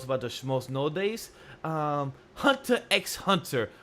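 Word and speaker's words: Hunter × Hunter: Hunter x Hunter, or people don't pronounce the X, so I'm sorry.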